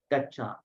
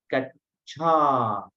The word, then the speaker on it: gaccha: So you have to always make an emphasis. Use that aspirate. Buddhang, here there's no aspirate. saranang gaccha.